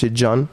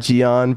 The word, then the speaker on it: Gion: Puis c'est prononcé John, G-I-O-N. So John, it's not Gian, but you know what?